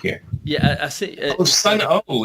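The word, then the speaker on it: Sunn O))): Sun O. It's Sun O. SUNNO. Yeah, it's dumb. You don't pronounce for some reason you don't pronounce the O, but here we go.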